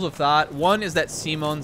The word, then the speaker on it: Simon: Simon which I mean they don't say it like you know they pronounce it Simone in the Japanese too but I think everyone just assumed it was supposed to be Simon and then when the dub came out and they do it if like you know they actually pronounce it like they do in the Japanese which is Simone then suddenly everybody started